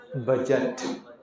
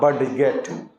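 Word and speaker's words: budget: करता है ज तो बी यू डी जीई टी क्या पढे बजट ठीक है बजट ऐसा नहीं करना बडट डीजी मिल क्या साउंड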